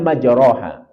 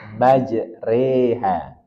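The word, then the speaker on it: مجراها: 41 perhatikan kata majraha secara umum kita akan membacanya majaroha tetapi ada kaidah khusus dalam ayat ini kata majroha itu dibaca imalah maj reha jadi Re majreha dia dibaca ee miring atau belok Karen dalam kaidah bahasa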